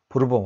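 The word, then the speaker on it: Bourbon: 옥수수를 가지고 위스키를 만들었는데 새로운 위스키 이름을 뭐라고 붙일까 생각했는데 부르본 왕조의 도움을 받았기 때문에 버번, 영어식 발음 버번을 붙이자 해서 버번 위스키로 만들었습니다.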